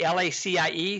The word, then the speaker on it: LaCie: One of the best hard drives out there is LaCie, L-A-C-I-E. Some people pronounce it LaCie.